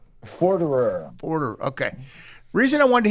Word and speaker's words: Forderer: Forderer.